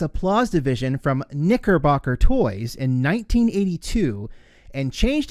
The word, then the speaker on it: Knickerbocker: As you can see, that's exactly what it's called, and it is really hard to pronounce it without it sounding bad, but it is Knickerbocker.